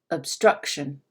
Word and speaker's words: obstruction: compare it to that first o obstruction it's almost like i kind of muddied up or mixed up that obstruction and lastly pitch what you should be able to hear is that struck is a little bit higher if i was singing a song right it would be a little bit higher than the other syllables in the word obstruction can you hear that